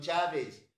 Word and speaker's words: Chávez: mi nombre, Chávez, Chávez, acento en la A, V y Z, eso lleva el apellido Chávez.